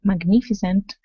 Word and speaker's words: magnificent: Instead of magnificent, okay, use a short I.